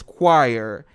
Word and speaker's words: choir: The correct pronunciation is choir.